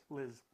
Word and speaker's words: Liz: Liz. Yeah. Liz? It's like, Liz. Like a Z. Just like a Liz Z.